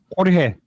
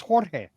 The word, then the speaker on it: Jorge: Jorge. It's Jorge. Uh, well, you don't spell it like that and not have that annunciation, bro.